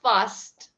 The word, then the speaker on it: fast: Pronunciation of fast.